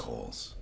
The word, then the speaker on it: Cowles: You know, it's Cowles. Oh, Coles. Coles. God. father Well, always then spell it like Coles, okay? My father used to say, would you say Camilla Parker Bowles?